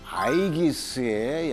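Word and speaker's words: Aegis: 또 미 해군의 최신 함선인 이 이지스 하면요, 이 이지스는 바로 제우스가 그의 딸인 아테네에게 준 방패 아이기스의 영어식 발음입니다.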